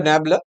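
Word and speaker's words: nabla: চিহ্নটা ইউজ করতে পারব এন এবি তো উচ্চারণটা নবলা তো এখানে নিউটনের ডিফারেন্স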